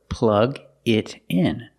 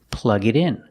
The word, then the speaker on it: plug it in: So, plug it in. Pronunciation, plug it in. The T in it changes to a fast D. Plug it in, plug it in.